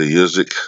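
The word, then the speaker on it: Usyk: promote promotionally with former undisputed cruiserweight champion Alexander usik because it's how you pronounce it and foreign title holder Joseph Parker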